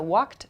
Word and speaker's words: walked: So walked, talked, typed. You can hear the ed sound at the end of each verb. It's spelled ed, but the pronunciation is a t sound.